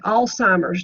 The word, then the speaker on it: Alzheimer's: damage you have okay Alzheimer's disease note the lack of a te there's no need whatsoever in arguing with the public they all call it Alzheimer's but that's not the correct pronunciation it's a progressive brain